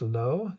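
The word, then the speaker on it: བློ: On the left is the character that is usually pronounced lo in the Wylie, which is giving you an indication of what the various letters are that are involved in that full word.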